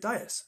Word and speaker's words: dais: the dais well that's I pronounce it Dyess I think yeah in fact well